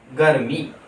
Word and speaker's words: गर्मी: आगे देखें हम लोग एक और शब्द को, ग जोड़ र, आधा र है, जोड़ मी, गर्मी।